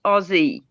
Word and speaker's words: Aussie: it's Gypsy it's the Azie girl I have to talk to her though because you say it wrong you say it wrong it's Aussie put Aussie no O